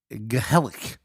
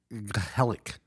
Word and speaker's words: gezellig: and pronounce this right, Gezellig. It sounds like you have a loogie that you're trying to spit up.